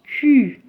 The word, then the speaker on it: Q: It's pronounced Q. It's K-U, Q, Q. There are some more letters